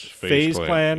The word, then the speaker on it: FaZe Clan: Is that how you pronounce them? Yes. FaZe Clan?